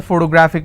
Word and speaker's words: photographic: If I have another word, photographic, somebody has a photographic memory. So what are the syllable break? It's photographic. And since it's ending with IC, I will stress on gra.